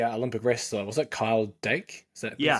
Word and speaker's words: Dake: And I think because the Olympic wrestler was it Kyle Dake?